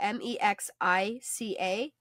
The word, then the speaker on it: Mexica: With the spelled out, because it's spelled like Mexica, M-E-X-I-C-A.